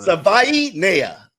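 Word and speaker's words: Savaiinaea: This is a big deal for him to pronounce his name, so we're going. Savai Nea.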